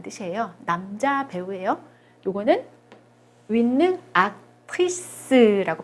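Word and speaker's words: actrice: 이거는 윈는 악트리스라고 발음합니다.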